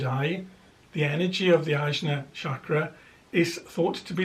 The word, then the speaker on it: Ajna: Now the third eye in the chakra system is the Ajna chakra, or sometimes pronounced Anya chakra, and its place of